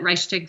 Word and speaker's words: Reichstag: He doesn't actually talk about the, I think you pronounce it Reichstag fire.